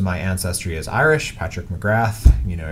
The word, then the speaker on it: McGrath: Most of my ancestry is Irish, Patrick McGrath. You know, if you wanted to call me by my proper Irish pronunciation, it would be Patrick McGraw, and or McGraw if you wanted to.